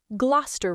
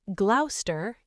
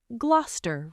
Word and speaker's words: Gloucester: And the last one, Gloucester Road. This is a tube station. It is not Gloucester, it is Gloucester Road.